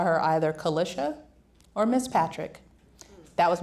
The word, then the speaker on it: Kalisha: And as you all know, I mean, I won't test anyone in here, but my name is Kalisha. It's pronounced Kalisha.